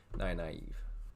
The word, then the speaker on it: Nynaeve: This will be pronounced the way I pronounced her name when reading the series at first, Nynaeve.